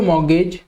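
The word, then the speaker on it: mortgage: एंड the value of your home और other property over and above the amount of द मॉर्गेज, T silent है, यू ओ is your equity in इट।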